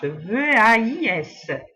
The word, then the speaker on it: vais: A et le S, V-A-I-S. Donc, la prononciation, c'est je vais, différente de la prononciation de deux autres personnes du singulier, que c'est tu vas et il va.